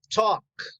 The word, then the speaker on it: talk: this repeat take take this is walk never pronounce el el no talk so repeat talk give